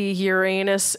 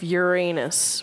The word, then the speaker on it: Uranus: of the town of Uranus, which is pronounced the way Uranus. a self-respecting class clown would say it.